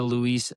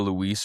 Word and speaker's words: Louis: May 4th, 2010, Julia Louise Dreyfus receives the 2,407th star on the Hollywood Walk of Fame, but they spelled her name wrong.